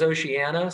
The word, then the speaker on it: Oceania: man says it Frank Del Rio he says oceanana so I say ocean okay all right and